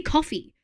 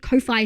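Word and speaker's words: Ko-fi: Yeah, it's supposed to be coffee and they're delusional if they think Kofi is supposed to be coffee.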